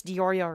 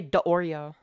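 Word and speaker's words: Nicholas DeOrio: can nobody pronounce Nicholas dioro right they always say deoro not dioro I have no evidence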